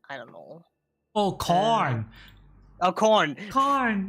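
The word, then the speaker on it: Khorne: Oh, Korn! Oh, Korn. Korn! Yeah, Korn! With a K, not a T. I believe the people, the one with the weapons are from Korn.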